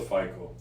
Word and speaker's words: FICO: We call it FICO. FICO. Right. Everybody repeat after me. It's FICO, the FICO scores. What is the true impact of your FICO score on securing a mortgage? FICO score is one of